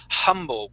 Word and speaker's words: humble: so uh humble okay make make uh make sure uh you guys to note that this is a word where we do pronounce that h okay it wouldn't be humble okay we do pronounce that H here we say humble we do pronounce it